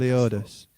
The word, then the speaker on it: Leodis: Leodis.